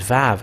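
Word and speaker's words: וו: And this Vav, it is pronounced as V.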